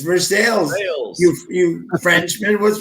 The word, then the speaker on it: Versailles: was watching the Olympics right that they said Versailles I'm like you're saying it wrong it's versales you you Frenchman what's wrong with you it's